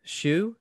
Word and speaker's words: Shue: So, Link is a 1986 British horror film starring Elisabeth Shue.